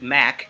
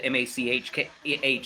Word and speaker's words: Mach: One of the host DJs from that show, Mach 357, or Mac. It's spelled MACH, so I always call it Mach, and he probably doesn't like that. But it's Mac 357, who's from the show The Evening Experience.